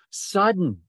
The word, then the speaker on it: sudden: It's the accent is on the first syllable. So it's not, but when the melancholy fit shall fall sudden from heaven.